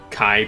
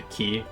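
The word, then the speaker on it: χ: do that why they use the Kai symbol but don't pronounce the kai part of it Kai and they instead pronounce a key because again you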